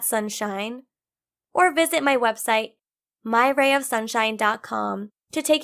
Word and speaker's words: Mayra: only because I'm Hispanic my name is pronounced Myra and it's spelled ma Y RA ma y RA yeah